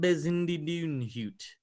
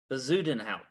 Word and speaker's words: Bezuidenhout: Christian Bezindidunhut, I think, is how you say it.